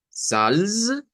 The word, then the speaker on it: Salz: el sonido de la Z en el alemán como tz, tz, como una TS, como atza, atza, o sea, como tz, tz.